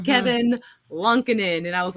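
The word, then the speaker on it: Kevin Lankinen: name which is how I learned that it's Kevin lunkenen not Kevin lankanen because it is him saying his own damn name and it's Kevin lunkenen and I was like okay I'm sorry I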